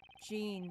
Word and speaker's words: Jean: So, and instead of I- Jean, it's Jean, the feminine Like Joan pronunciation.